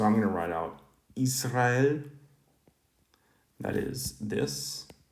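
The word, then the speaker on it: Ισραήλ: So I'm going to write out Israel. That is this. Is-ra-el. That's sort of the classical Greek pronunciation, or in the modern Greek, Israel.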